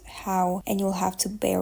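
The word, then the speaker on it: Howe: Not Philosophy by Fanny Hoey. So a little intermission for my future me. I just realized that her name is pronounced How and not Hoey, as I do here, and it's much more logical that way.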